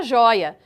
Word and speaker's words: joia: Agora, uma atenção especial à palavra joia. Percebam que a sílaba tônica, ela é a penúltima sílaba, é o jói.